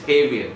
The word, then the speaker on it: Javier: take an example of j-a-v-i-e-r right in the part of the mexico and all that the jea is pronounced as ha you cannot pronounce as javier you can pronounce his heavier right so there are